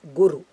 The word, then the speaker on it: guru: Either Guru or Brahaspati. Okay, I must correct these two words. The word is Gu-ru. Both are Hraswa short letters.